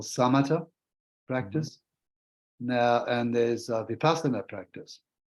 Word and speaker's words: vipassana: of meditation yeah well there's two ways of pronouncing it if you if you pronounce it in the Sanskrit it's vipassana Buddhism is mostly concerned with the Pali Lane which Pali language it's vipassana okay inside and so